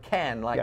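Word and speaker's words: Cannes: did but I said calm it's I'm just I'm just not James Caan no not James but but can like a can of beans uh-huh but you know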